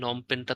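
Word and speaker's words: Phnom Penh: কোনটা আসার মতো বলি নমপেনটা তো আসে নমপেন বানানটা একটু মনে রাখতে হবে আপনাদের কম্বোডিয়ার রাজধানী নম পেন নম পেন পি দিয়ে শুরু নম পেন আবার লাস্ট একটা এইচ আছে ইস্তিমুরের রাজধানীটা আসে তিলি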